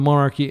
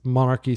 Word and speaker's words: Monarch: is so strong against monarchy strategies and I'm sorry I keep saying monarchy it's pronounced Monarch to those of you who suffered through me saying monarchy instead of Monarch like 10 times yesterday my apologies okay so